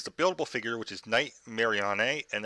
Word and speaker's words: Nightmarionne: Mary on a and that's how I'm well pronounced name because that's how it's spelled in game we all know suppose be night marionette but that's not how it's written and unfortunately for billable